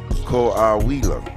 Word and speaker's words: Coahuila: These are pictures in the city of Coahuila. That's how you pronounce it.